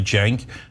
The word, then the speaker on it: Cenk: Cenk, this is pronounced like a J, Cenk, and then Uygur, Cenk Uygur.